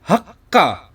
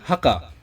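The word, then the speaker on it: はっか: hak nah lalu kita memberikan su kecil di antara H dan K itu bacanya Hak Ka jadi ada penekanan ya bedakan ya ini Haka ini Hakka oke lalu Berikutnya ini rapu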